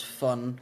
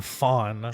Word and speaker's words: von: So I I die a little inside every time you pronounce fun with V. What? We we were through this. V in German is pronounced F.